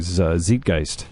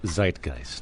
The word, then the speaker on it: Zeitgeist: the correct pronunciation uh Zeitgeist Zeitgeist because it's a German word and what does it